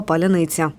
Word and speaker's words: паляниця: час війни, перевіряючи ворога на вимову слова «паляниця». Справа в тому, що в російській мові немає слів зі звуком «ц» м'яким. У нас «палець», у них «палець». І тому їм було складно вимовити всі ці слова.